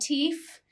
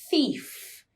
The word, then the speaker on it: thief: Be careful with your pronunciation on this one. Not thief, thief, thief.